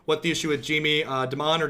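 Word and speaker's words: Dimon: the issue with Jamie Des Moines or Des Moines, however that pronounced is? Pronounced Diamond.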